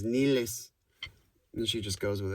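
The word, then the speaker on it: Nilles: i a-n-i-k-a niles n-i-l-l-e-s i'm not sure if that's actually the way she pronounces it but anyway i heard some of i heard a guy say it like i heard a guy pronounce that name her name in front of her for that video and she didn't correct him who knows maybe her grandma says nilis and she just goes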